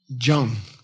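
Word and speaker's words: སྦྱོང: This jang means refined. Put a naro on it and it becomes jong.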